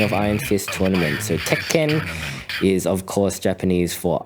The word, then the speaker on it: Tekken: Tekken.